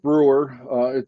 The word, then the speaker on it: Broer: Well, my name is Brewer. It sounds very different than it's spelled, as we covered in the pre-show.